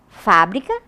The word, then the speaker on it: fábrica: que modifica a pronúncia elas são escritas de maneira igual mas a pronúncia é diferente vejam molho de molhar e molho secretaria e secretária fábrica e fabrica Só muda a acentuação umas T outras não né agora passando para as